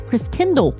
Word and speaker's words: Christkindl: Secure your spot today and be part of the holiday cheer at the Christkindl Market. That's how you say it. It's German-based.